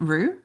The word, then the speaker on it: Roux: Rue. R. Yep. Like a kangaroo.